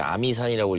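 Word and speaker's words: 峨眉山: 아, 저는 지금 어메이산이라는 곳에 갑니다. 한자로는 이제 아미산이라고 읽기도 하는데 무협 소설를 읽다 보면 소림 무당 아미파라는게 있습니다.이 문파가 되게 특이한게 뭐냐면 여성 문파로 많이 표현이 됩니다.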